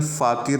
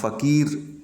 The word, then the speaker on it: फ़ाकिर: Song है, वो सुदर्शन फ़ाकिर द्वारा लिखा गया है। यहाँ फ़कीर लिख दिया गया है, लेकिन इसका उच्चारण फ़ाकिर करें।